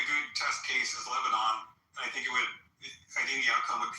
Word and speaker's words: Lebanon: Yeah, I mean, I think a good test case is Lebanon.